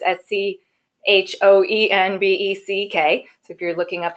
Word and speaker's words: Schoenbeck: It's actually easy to say once you know how to say it. It's Schoenbeck, and so it's Schoenbeck.